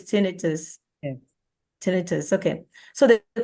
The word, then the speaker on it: tinnitus: to practice saying it when people call it ttis that's inflammation this is not inflammation so it's not the right pronunciation it's it's tenus tenus okay so the the question is can